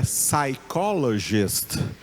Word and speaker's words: psychologist: Em inglês, o psicólogo é psychologist. Psychologist. Tem o P escrito lá, o P e o S. Mas em inglês, né, nos Estados Unidos ou no Reino Unido, ninguém lá pronuncia esse P.